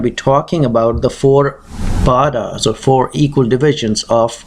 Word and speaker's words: pada: divisions, which is called, in Sanskrit the right pronunciation is pad, but for the Western world it's easier to say pada.